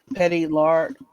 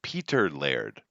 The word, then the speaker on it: Peter Laird: this is from Bleeding Cool Kevin Easter man petty Lord reunite after Netflix the toys that made us